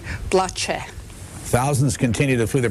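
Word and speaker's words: Blace: PL AC e macedonia now he pronounced BL AC e PL AC bloch a thousands continue to flee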